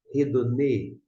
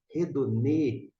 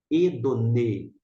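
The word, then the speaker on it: ἡδονή: a questão da pronúncia Por que que pronuncia redondê e não edune hora por conta desse finalzinho que está aqui em destaque para parece mais ser pequeno né Esse é uma aspiração áspera ou um espírito forte vamos tratar um pouquinho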